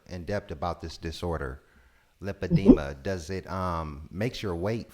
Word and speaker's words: lipedema: of women suffer from the padima am i pronouncing it right lipedema right yes you're you are you